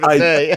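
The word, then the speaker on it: naïveté: But I would, Naivete. Oh, not naivety. you got me You know, mispronouncing it.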